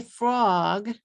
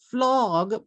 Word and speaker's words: frog: and the extra syllables if you say frog with one syllable and I still I'm going to check the one syllable folder in my mind and oh this person is saying flog but maybe they mean frog okay okay frog he's